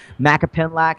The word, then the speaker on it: Macapinlac: Macapinlac is it's spelled exactly as it sounds, Okay.